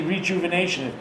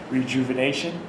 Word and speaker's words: rejuvenation: You say rejuvenation with J-E-W in the middle of the word. R-E, J-E-W. That's not how it's spelled, but rejuvenation.